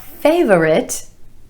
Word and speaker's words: favorite: nine favorite favorite not favorite favorite again two syllables here with emphasis on the a sound in the first syllable favorite my favorite that's